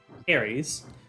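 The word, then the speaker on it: Heres: is Harry's um spell it's not like h-a-r-r-y-s but h-e-r-e-s like hermese but without the m um y'all got to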